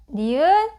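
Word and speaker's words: knee: 니 니 니 무릎 k-고 n k-고 n 맨 앞에 왔습니다 그럼 k n 소리 안 나고 n man 소리 나죠는 니은 니은가 장가 자음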